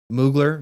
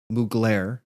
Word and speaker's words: Mugler: was uh the 2023 moogler video mugler If you pronounce it the way that the voiceover does it in the music and at first it